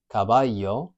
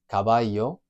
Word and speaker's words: caballo: If we take the word for horse, which is caballo, it's either like a Y sound in English, caballo, or it can be like a J sound, for example, in Medellin, in Colombia, caballo, caballo. And if we go to